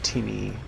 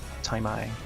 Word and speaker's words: Timi: But I like the one that's coming out from Timmy or Taimai. Timmy Taimai. I want to call him Timmy, like as in Timmy O'Toole. Because the way they spell it is T-I-M-I.